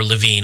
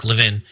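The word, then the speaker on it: Levin: Well, Mark Leavvin, who or Lavine, I'm not sure. I think he pronounces it Mark Leavvin.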